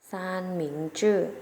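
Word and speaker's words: 三明治: คือ แซนวิช นะ คะ แซนวิช นำ ศจี น เเล้ว จะ ออก เสียง ว่า สั้น หมิง จื่อ ซาน หนิง ชื่อ ซ่าน หมิง ชื่อ นัก เรียน ออก เสียง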